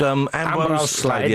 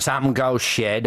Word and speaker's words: Ambrose Slade: And then we changed in 70, I think it was, into Slade, because everybody was getting the name wrong, calling us... At gigs called it Amgo Shed, Arnold Slade.